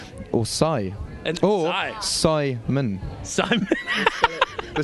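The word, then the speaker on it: Psymon: or or like or sigh and or Simon Simon they spell it like that p ps y m o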